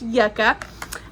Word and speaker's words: Yucca: newest one Yucca I want to call it Yuca but it's pronounced Yucca um so if you're interested in seeing what